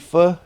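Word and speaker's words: pho: But but like you eat fu fu fu. Oh yeah. Yeah. F. Yeah. Yeah. Yeah. They spell it ph h o like o. But it's f.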